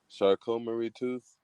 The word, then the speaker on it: Charcot-Marie-Tooth: I don't want to mispronounce it. Charcot-Marie-Tooth disease? Yeah, that's really close. Charcot-Marie-Tooth.